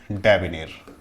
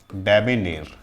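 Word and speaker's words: debonair: तो the right pronunciation of this word is डेबिनेर। डेबिनेर। Clear, याद रखिएगा, डेबिनेर सही प्रोनाउंसिएशन होता है।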